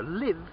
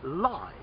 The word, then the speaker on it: live: at that moment okay so live is a verb but live is an adjective describing that also limps